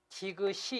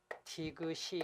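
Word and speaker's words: 지긋이: 받침은 티그 타고 뒤 그 시 지만 실제 발음은 이게 초 4 경 연결되면 지그시 이렇게 읽어요 지그시 엥 그 다음에 뒤 그 다음에 역시 의리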